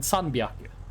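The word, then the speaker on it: さんびゃく: The H becomes a B. It makes sense. If you speak Japanese a bit, you will get why the pronunciation is like that.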